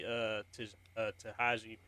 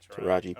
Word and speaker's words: Taraji: I can even see Tahaji, what's her face? P. Henson. I can see her. I can see her doing it. Say her name, the whole name. Oh yeah, Taraji P.